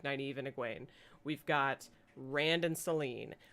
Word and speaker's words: Egwene: Egwene, What? say her name. What's her name? Say her name. Her name's Egwene.